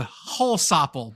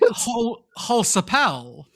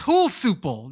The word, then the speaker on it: Hollsopple: Okay, so immediately you go with Holsopple, but that ain't it. It's not Holsopple. Is it Holsapel?